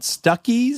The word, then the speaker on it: Stuckey's: Yeah, my mom would be like, want me to pull off here at Stuckies? And we would laugh. Oh my God, it rhymes with Buc-ee's.